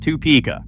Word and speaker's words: Topeka: Number five, Topeka, Kansas, pronounced Too Pika.